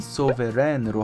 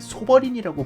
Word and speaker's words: Souverän: 표기는 소베렌으로 하고 있고요. umlaut 아가 들어갔기 때문에 에 발음이 추가돼서 렌으로 읽는 게 맞아요. 최소한 소버렌으로 불러야 하는 것이 표기상 중요한 일이고요. 네이버 전자사전에서 발음을 들어보면 이것과 같습니다. Souverän.